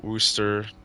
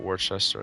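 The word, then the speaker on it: Worcester: Well, worooster, not Warchester. I keep pronouncing that one wrong.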